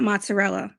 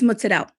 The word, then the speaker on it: mozzarella: No, it's not mozzarella. That like makes me cringe. It's mozzarella.